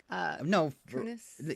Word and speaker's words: Kunis: Kunis?